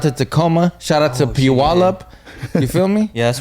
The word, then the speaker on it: Puyallup: I've only been to Seattle, Tacoma, Puyallup. Am I saying it right? Yeah, Puyallup.